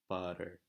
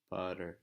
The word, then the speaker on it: butter: an English word like butter, butter. Not the R sound at the end, but the T in the middle is the same as a rolled or a flipped R in Spanish.